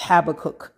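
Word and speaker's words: Habakkuk: make it plain now that's habac I usually say it wrong but I think I said it right this time and and so that's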